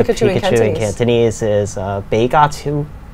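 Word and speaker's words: 比卡超: And so what is the Pikachu, Pikachu in Cantonese is Beigatu. Beigatu.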